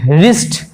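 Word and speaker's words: wrist: সেই রিস্ট দেখো রিস্ট W দিয়ে শুরু হচ্ছে কিন্তু কিন্তু বানান উচ্চারণের সময় কিন্তু তখন আর উচ্চারণ হচ্ছে রিস্ট, যেমন রং, রং মানে ভুল, কখনোই ডব্লুটা আসছেই না, রং মানে ভুল।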